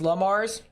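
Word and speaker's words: Le Mars: technically you're not wrong technically La Mars it's pronounced La Mars good to know I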